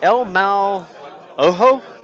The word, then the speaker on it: El Mal Ojo: So, for our first scenario, it's called the El Mal Ojo. I believe I said that correctly. David, how do we pronounce the scenario?